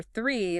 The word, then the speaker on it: three: But for three, the number, your tongue must come forward.